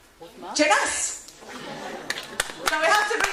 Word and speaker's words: Jeunesse: By the way, what rhymes with success? Jeunesse.